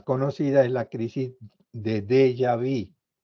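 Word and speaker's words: déjà vu: es la crisis de de yavi se escribe de jaú pero se pronuncia de yavi eso eso es francés el de yavi significa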